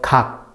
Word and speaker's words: 각: Okay, this is a Korean syllable and it's written as 그, 아, and the final letter guk. So 각, 각.